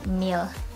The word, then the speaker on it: mil: ml or mil so here in New Zealand we pronounce it meal okay so divide one